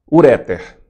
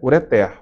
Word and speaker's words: ureter: Se a pronúncia fosse uréter, essa palavra seria acentuada.